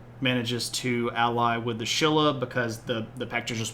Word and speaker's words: Silla: what's going on with Shilla and I always want to put an H in there because you pronounce it with an H but there's no h in the word uh Shilla so flag